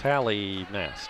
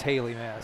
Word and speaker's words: Hallie: So it's Hallie Mass, not Haley, right? Hallie oh, Mass? no, it is Haley Mass.